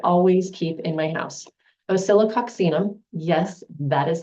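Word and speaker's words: Oscillococcinum: three that I always keep in my house osilo oxum yes that is how it's pronounced I actually know how how to say osilo oxum this is for the flu and I have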